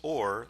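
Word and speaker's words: עור: It sounds the same as the Hebrew word for light. Both are pronounced or light or skin.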